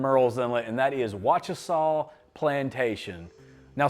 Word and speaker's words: Wachesaw: It's pronounced Wachesaw Plantation.